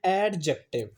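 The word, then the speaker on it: adjective: एडजेक्टिव। ये है एडजेक्टिव नहीं है। यह है एडजेक्टिव। इज it clear? D is silent here.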